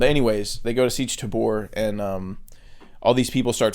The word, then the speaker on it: Tabr: they go straight to I always read it as Siege Tabor, but in the movie they're saying Tabra because it's spelled Tabr. Okay. I'm just gonna say Siege Tabor because that's how I always said it, and that's how the audiobook says it. And Tabra sounds weird.